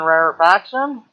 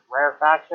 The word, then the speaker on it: rarefaction: called a rare action i'm not sure on the proper pronunciation of this rare faction or rare reaction so pronunciation rarefaction rarefaction the rare faction so what are some